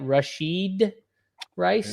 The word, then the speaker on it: Rashee Rice: Rashee Rice, is that how you say it? Rashee Rice?